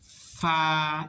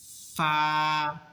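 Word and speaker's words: ف: লাগাইছি জিহ্বার আগা, জিহ্বার দাঁতের আগা, নিচের টুটের পেট, আর এখন আগে লাগাইতে হবে। ফা, একটু বাতাস বের করতে হবে। ফা, ফা, ফা, ফা আগে লাগাইতে হবে, এরপরে সাউন্ড করতে হবে।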